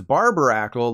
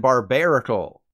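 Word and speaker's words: Barbaracle: the Big Daddy was Barbara Ackle like someone who cuts your hair but the correct pronunciations are by nickel and barbarical the easiest way to remember barbarical is that it's a barbaric Barnacle which actually sounds pretty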